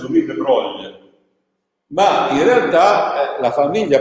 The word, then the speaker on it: Louis de Broglie: In francese si pronuncia Louis de Broglie, ma in realtà la